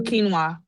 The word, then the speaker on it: quinoa: Kuna kuana quana. Oh, quinoa.